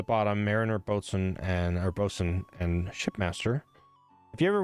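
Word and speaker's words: bosun: Mariner, boat, and or bosen, and shipmaster. If you ever wonder how that words the word spelled boatain, it's spel. It's pronounced bosen.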